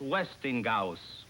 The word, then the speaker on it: Westinghouse: of h i am telling you it is pronounced westinghouse i suppose the people who've been doing their